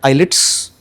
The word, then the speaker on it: IELTS: A lot of people call it IELTS, but you actually pronounce it IELTS. I used to also pronounce it as IELTS before I came into IDP. When I was giving my interview for IDP, I realized that the person who was taking my interview was pronouncing it as IELTS, and I was like, does he mean IELTS? Right. So then I realized, oh, T is silent.